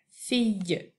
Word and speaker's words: fille: fille donc une fille ça s'écrit F i l l qui fait le son y et un e à la fin fille petite image pour te